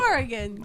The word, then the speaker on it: Oregon: How's it pronounced? It's Oregon. Oregon.